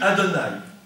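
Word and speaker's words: אדני: ne peut pas prononcer, qui se dit Adonai, Aleph, Dalet, Nun, Yud.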